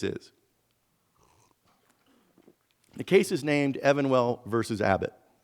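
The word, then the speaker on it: Evenwel: Evan well versus Abbott now you may hear it referred to as even well that may be actually the pronunciation of sue Evan well the plaintiffs name but I have vowed never to pronounce it as even well because as you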